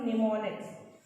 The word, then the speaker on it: mnemonics: हम लोग यहाँ से रीड करते हैं इसको निमोनिक्स, ठीक है। एम जो होता है वो साइलेंट होता है।